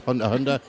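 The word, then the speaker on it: Hunter × Hunter: It's like Hunter X Hunter is actually just Hunter Hunter. You don't pronounce the X.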